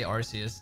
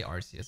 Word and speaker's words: Arceus: How do you guys say Arceus? Do you pronounce it the correct way?